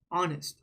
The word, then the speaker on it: honest: sound that you hear it's not H right it's O honest right we don't say the H sound it's not honest that's not how you say it it's honest so because that first